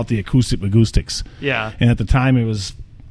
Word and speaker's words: Bahgoostyx: Well, acoustic rhymes with Bahgoostyx, and that's how it started.